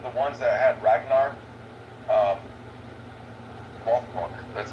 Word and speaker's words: Lothbrok: Now, at the end of the ones that had Ragnar, Lothbrok, that's how you say his name.